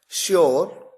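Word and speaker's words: sure: शुगर, ध्यान दीजिए यहां पर केवल एस आया, एच तो आया ही नहीं, लेकिन उसके बावजूद प्रोनाउंसिएशन में, उच्चारण में शलगम वाला श है। तो देखिए शुगर, श्योर।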